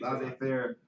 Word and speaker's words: laissez-faire: Did I pronounce it right? Yeah. Okay, laissez-faire.